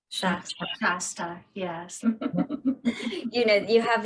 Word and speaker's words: Shasta: I guess there's like I can never pronounce it, Mount Shastra. Shasta, yes.